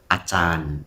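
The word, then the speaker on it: Ajahn: Lalu dia bilang begini, Acan itu bahasa Thai artinya guru. Ya, bacanya pakai C, Acan. Ya, walaupun tulisnya pakai J.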